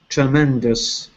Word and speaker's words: tremendous: Last is tremendous. Tremendous. Yeah. It looks like os, but it's pronounced is.